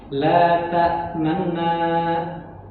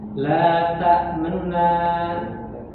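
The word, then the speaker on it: لَا تَأْمَنَّا: Tetapi dalam praktek bacanya kita dengan raum, maka kita membaca seperti itu. La ta'manna, la ta'manna, agak cepat, ya. Jadi syiddahnya itu ditiadakan.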